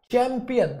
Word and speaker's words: champion: तो जब मैंने कहा ये वाला चैंपियन तो चा साउंड आ गई भैया, शैंपेन शा साउंड आ